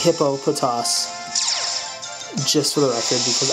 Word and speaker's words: Hippopotas: lives there hippopotas nice and yes it is pronounced hippo poas just for the record because I did indeed